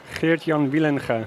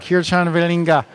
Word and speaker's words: Geertjan Wielenga: Geertjan Wielenga. Geertjan Wielenga.